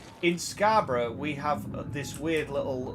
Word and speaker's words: Scarborough: Scarborough. Yeah, that's how it's pronounced.